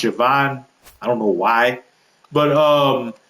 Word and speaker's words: Siobhan: Siobhan O'Sullivan fun fact it looks like Siobhan is pronounced Siobhan.